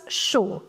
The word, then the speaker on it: chaud: AU in French is O. So CHAU becomes chaud.